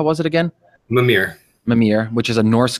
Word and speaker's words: Mimir: That's how you pronounce it? How was it again? MIMIR.